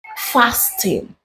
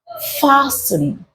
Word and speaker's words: fasten: You do not say fasting. You say fasten. Fasten.